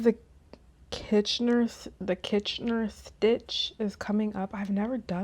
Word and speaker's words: Kitchener: Let's look up and see what the Kitchener Is that how you say it?